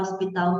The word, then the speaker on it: hospital: Então, existe o H na palavra como letra, mas ele não é pronunciado, então ele é letra, mas não é fonema, e por causa desse